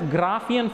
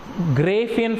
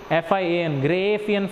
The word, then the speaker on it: Graafian: gray Apheian, or some people call it as Graafian follicle. Okay, pronunciation is up to you. Everybody's pronunciation is not same, they pronounce in different way, but I am telling you correct pronunciation. That is pronunciation gray Apheian follicle, GRAAFIAN, gray Apheian follicle, because it was